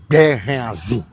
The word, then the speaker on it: Béhanzin: La prononciation c'est Béhanzin.